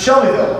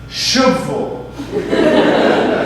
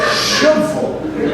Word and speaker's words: Shelbyville: Shelbyville, probably. Not the case, I found out. Yeah, I spoke to someone who was from that area, and the way he pronounced it, Shubville. I swear, Shubville.